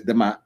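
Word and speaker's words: D'mt: By the 8th century BCE, a kingdom known as Dimit, pronounced as Damat, rose in the northern Ethiopia.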